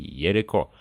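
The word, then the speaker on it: երեկո: Например, эти слова произносятся как ворушум и ереко, то есть в начале слова появляются еще звуки в и й соответственно.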